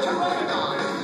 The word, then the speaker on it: Pteranodon: I'm a pteranodon. P-T-E-R-A-N-O-D-O-N. The P is silent, which makes me extra special.